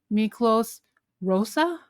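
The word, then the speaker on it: Miklós Rózsa: And then also another Hungarian composer, Miklos Rosa? Is that how you pronounce it?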